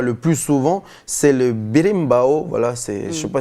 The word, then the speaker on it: berimbau: Et puis, l'instrument que l'on voit le plus souvent, c'est le berimbau. Voilà, je ne sais pas si on le prononce bien, en tout cas, ça s'écrit B-E-R-I-M-B-A-O.